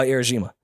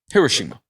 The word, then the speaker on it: Hiroshima: could blow up uh Hiroshima or I pronounced that wrong actually uh Hiroshima so wait I'm not